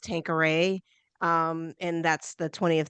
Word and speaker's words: Tanqueray: have to explain that this is my name is pronounced tankor um and that's the